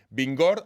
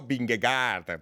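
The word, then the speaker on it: Vingegaard: ha decido porque esto me han enseñado a pronunciar vigor aunque lo leamos escrito binge cárter para que nadie se confunda ya digo las dos formas y así nos entendemos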